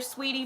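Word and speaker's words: Saweetie: you guys see that is her name sweetie it's how you pronounce it sweetie and quavo broke up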